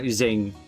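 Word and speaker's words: Qing: So I will die in the spirit of the queen dynasty. That's not how you pronounced it. I think it's Zing. Zing dynasty rulers.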